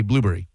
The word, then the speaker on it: blueberry: king of words, say blueberry. So the emphasis is not on the blue, but on the berry.